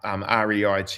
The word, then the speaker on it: REIT: We saw this sort of fashion in particularly in the US of these REITs coming up REIT real estate investment trusts. Uh pronounced REIT.